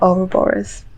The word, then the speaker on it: Ouroboros: card that comes up is this snake the or borers that's how you say it exactly the same